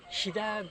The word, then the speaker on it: Hida: Many people love ramen, and maybe Ida beef. My top is Ida beef. For me, it's better than Kobe beef. Hida beef?